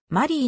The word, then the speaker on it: Marié: 続けているファーストネームの英語表記が丸いになっているのはマリーと読まれないようにするためで実際に絵にアクセントを置いて発音するわけではない the official 丸いディグビー